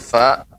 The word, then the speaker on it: ف: Ya, pengucapan huruf fa yang sudah materi hari ini, yaitu fa diucapkan dengan keluarnya udara.